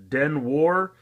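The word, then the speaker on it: 電話: so that it rhymes they kind of romanized stuff a little differently than it's actually pronounced this is dead wha den why is Japanese for telephone so it is a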